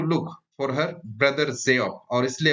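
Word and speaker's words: Geoff: बहुत सारे लोग जियोफ को गोफ भी पढ़ते हैं, जो कि गलत है। इसका सही उच्चारण जो होता है वो जियोफ।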